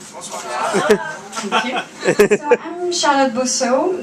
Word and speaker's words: Bosseaux: So I'm Charlotte Bosseaux, that's spelled with an X at the end, so it's not Bosseaux, it's not Bossex, it's just Bosseaux, and that's French, obviously, and well, being French